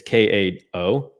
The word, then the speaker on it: Kao: I think I'm pronouncing her name right. It's Kao.